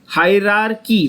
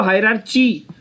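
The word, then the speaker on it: hierarchy: हायरार्की। मेरे साथ बोलो, क्या है वर्ड? हायरार्की। बहुत लोग इसको हायरार्ची, बहुत लोग इसको हायरार्ची बोलते हैं, वो गलत है।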